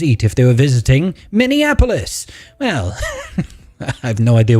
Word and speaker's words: Minneapolis: Am I even pronouncing that correctly? Is it Minneapolis?